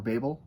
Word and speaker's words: Babel: Um, I'm going to be looking at RF Kuang's Babel or Babel. I pronounce it Babel, but I have heard other people pronounce it the other way.